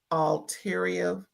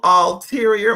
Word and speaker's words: ulterior: all had art had all alterior can't say it right. Uterior had all look all ulterior motives. They all had ulterior motives.